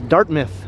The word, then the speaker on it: Dartmouth: the same municipality now i incorrectly referred to it as dartmouth before but then beverly corrected me it's dartmouth you have to say it like that dartmouth idea and the weeping